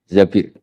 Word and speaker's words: Zabir: hadis ini bukan Mbak Bacanya bukan Zubair tapi Zabir. Abdurrahman bin Zabir.